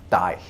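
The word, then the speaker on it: dæg: was this notice anything has a g at the end although it was actually pronounced more like a y it was something like die again my old English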